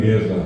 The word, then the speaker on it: guerra: La U intermedia, la criatura en la escuela escribe gerra, en vez de escribir huerra, porque él lee y no tiende, pero tiene que pronunciar guerra, pero y tiene que ir huerra.